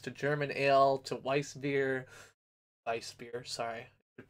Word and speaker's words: Weissbier: Weissbier, sorry, I should pronounce it right.